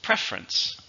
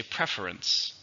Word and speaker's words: preference: Preference. Now, when I said it, there's 2. But you could also say preference. Preference or preference. They're both okay.